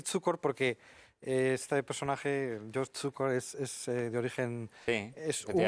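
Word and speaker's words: Cukor: de emigrantes húngaros pero el apellido tcor es eslovaco y como yo he vivido en Eslovaquia pues lo voy a pronunciar como se pronuncia ahí no tcor significa azúcar y Bueno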